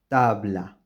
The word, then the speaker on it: tabla: by another consonant so when bae or Bay are are followed by a consonant they will be pronounced with the approximate sound Tabla Tabla the same happens